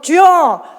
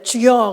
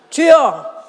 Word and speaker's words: 주여: 이제 예수로 주여 주여 발음 잘해야 돼. 죽여 그러면 안 돼. 주여 주여 주여 주 예수여 주 예수여 만약에 내가 예수를 주 예수라고 하시면 그를 통해서 누가 영광 받으신다?